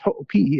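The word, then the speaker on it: Hoʻopiʻi: There's a fellow named Sal Ho'opi'i, right? Spelled Hoopy, but it's pronounced Ho'opi'i if you have any Hawaiian in you at all.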